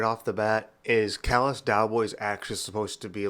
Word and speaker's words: Callous: Callous isn't like C-A-L-L-A-S, like Dallas would be. It's not the same spelling, but it's the same pronunciation.